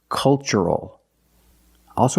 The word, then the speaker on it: cultural: The first word culture and the second word cultural. Also remember the first syllable is a short u like cup and up. Uh uh make a relaxed sound.